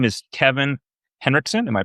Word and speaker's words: Kevin Henrikson: His name is Kevin Henrikson. Am I pronouncing it correct?